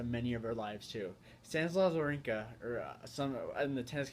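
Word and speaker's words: Wawrinka: him the warrior cuz his name is spelled w a w r i n Ka so war with a W there ear um if you're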